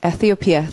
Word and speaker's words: Ethiopia: Ethiopia, thi 발음 이렇게 하고요.